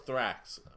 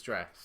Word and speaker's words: Drax: I thought it was Thrax, but it's Drax.